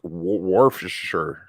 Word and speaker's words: Worcestershire: can't say Worcestershire sauce it is war for sure like a word for Shire I don't know I